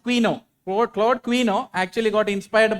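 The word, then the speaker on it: Couinaud: So Claude Quino, it's pronounced Quino.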